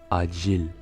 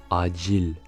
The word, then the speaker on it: acil: On commence par la consonne C qui se prononce dj, comme dans l'exemple suivant avec le mot acil, acil, urgent.